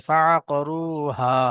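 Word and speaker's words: فَأَكْرِهُوهَا: আপনার আবার ভিতরে চলে যাচ্ছে, ফাআকরুহা। হা। হা। ফাআকরুহা। হা। হা এই জায়গা নয়, আপনার যে জায়গা থেকে হা উচ্চারণ করছেন ওর আরেকটু ভিতরের দিক যাবে, ভিতর থেকে একটা গম্ভীর আওয়াজ ভিতর থেকে বার করে না, ওই রকম ভাবে ফাআকরুহা।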